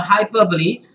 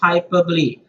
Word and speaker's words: hyperbole: is an example of hyperbole guys remember the pronunciation is hyperbole it's not hyperbole it is hyperbole and what is and